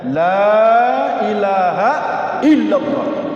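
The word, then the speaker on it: لا إله إلا الله: dunia lebih berat laahaillallah yang penting bacanya benar lam di situ lamun nahi mesti dipanjangkan bacanya Lailahaillallah tidak ada ilah maudallah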